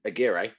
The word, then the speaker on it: Aguirre: Like he's Alan Aguirre, which I will now finally pronounce correctly, describes him as like a smart version of Hunter, and that's actually what I think he's more like.